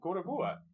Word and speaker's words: Gorogoa: Well, Gorogoa. It's not Gora anything, it's Goro!